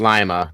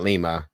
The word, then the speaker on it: Lima: Ohio do that one of the letter it's pronounced Lima not Lima I can't stand when they do that anyway